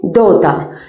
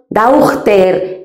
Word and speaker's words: daughter: Es una palabra que nos resulta bastante complicada de pronunciar. Simplemente daughter. No decimos daughter ni daughter, no, daughter, ¿vale?